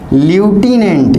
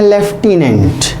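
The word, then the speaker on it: lieutenant: लिखते हैं ल्यूटिनेंट, LEU, पढ़ते हैं लेफ्टिनेंट।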